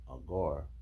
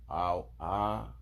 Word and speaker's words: Agur: The saying of I just learned how to pronounce this right now. It's a Hebrew name. Agur. A-g-u-r.